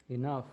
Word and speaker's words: enough: Enough. Enough time. With F, the pronunciation is like F, enough.